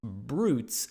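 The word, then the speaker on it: Broots: sorry b r o o TS but it's pronounced brutes as if it's b r u Tes hey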